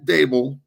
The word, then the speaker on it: Daboll: Brian Daboll. Yep. Am I pronouncing that right, by the way?